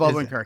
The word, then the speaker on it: Odenkirk: Did I pronounce that? I always stumble on this. Yeah, Bob Odenkirk.